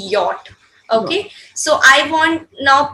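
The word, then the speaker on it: Jot: Basically, ya we'll be going to pronounce J as ya, but the letter we say yacht also. J, that is called Y-O-T, yacht.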